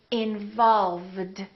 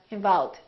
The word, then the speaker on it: involve: tends to disappear so when people say involve sometimes it sounds like involved involved and when people